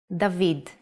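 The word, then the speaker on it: דוד: famous king of the ancient kingdom of israel dahveed it's written with two ballot and one valve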